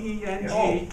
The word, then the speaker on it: Peng: P-E-N-G. Peng, like penguin?